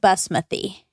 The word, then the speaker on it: basmati: Um, in India they pronounce it basmouthy.